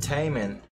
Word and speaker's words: Taemin: we are here with Taman is how you say his name Taman Criminal why is he